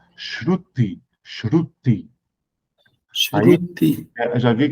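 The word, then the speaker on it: श्रुति: O nome disso em sânscrito é Shruti, é uma palavra complicada de pronunciar. Shruti, Shruti.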